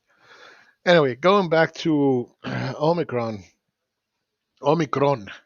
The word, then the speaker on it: omicron: going back to omicron omicron is the correct way to say it omicron i'm greek so i know uh getting back to